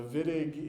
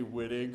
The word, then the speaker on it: Wittig: The Wittig is pronounced with the German W, so we pronounce it like a V. Don't say Wittig, or chemists aren't going to know what you're talking about.